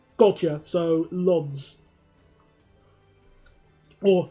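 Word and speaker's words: Łódź: O with a line is like a U. Gotcha, so Lodz. Or Ludes.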